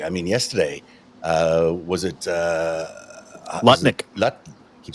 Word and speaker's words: Lutnick: Lutnick. Keep saying his name wrong now. Nutlick. Yeah. Howard Um, Nutlick I believe is his name.